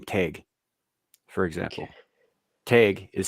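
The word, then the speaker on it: Tadhg: an old Gaelic man's name tag for example tag is spelled t-a-d-g-h say that again how's it spell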